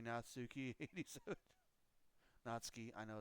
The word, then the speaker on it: Natsuki: guy and he's like it's actually pronounced natski anyways um anyways yes